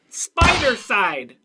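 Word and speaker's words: Spidercide: Here's your first Spider-Man villain, Spider-Side. Great. Spider-Side. Is that like spermicide? Yeah, like genocide.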